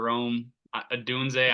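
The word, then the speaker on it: Rome Odunze: Washington wide receiver Rome Adunze. I don't know how to pronounce his name. I don't You know. got it right. It's Romo Dunze, yeah. Adunze? Okay, that's what I thought.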